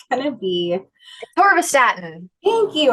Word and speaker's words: atorvastatin: So I butcher the pronunciation of this one, but it's going to be, Torvastatin. thank you, atorvastatin.